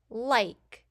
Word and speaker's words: like: Like. Notice in like, we hear the I is saying its long sound, and we hear K for K, the E is silent.